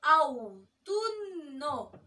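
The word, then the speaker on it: autunno: اوتونو، خلي بالكم من نطقه، اوتونو اوتونو اللي هو الخريف.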